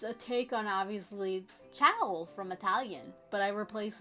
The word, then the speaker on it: ciao: It's a take on, obviously, ciao from Italian, but I replace it. I mean, I pronounce it like the dogs, chow chows, because that's what I end up thinking about.